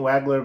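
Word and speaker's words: Wagler: Keaton Waggler versus Kingston Flemings. Yeah. Yep, Fleming for Houston. I can't pronounce his name. It's not Wagner.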